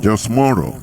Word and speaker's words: James Monroe: This man, I mean the James Monroe, the way you pronounce it, James Monroe, is from him we have a Monrovia.